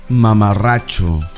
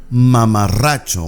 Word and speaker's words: mamarracho: Mamarracho. Mamarracho simply means someone ridiculous. Someone who acts like a clown. Mamarracho. Once again, the double R has to be pronounced a bit stronger.